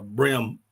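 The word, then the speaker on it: bream: a but uh we the way we pronounce it down here is uh brim BR R IIM um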